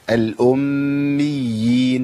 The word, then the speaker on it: الأميين: ده عندي مشدد قبل الياء المشددة، يبقى لابد من بيان الايه؟ الأميين، ما اقولش الأميين، الأميين، ما ينفعش.